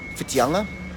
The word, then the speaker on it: Whitianga: Okay, the next part, which is the tia, the TIA of Whitianga. Okay, now when you pronounce that, if you know how to say the word tiara, okay, tiara as in,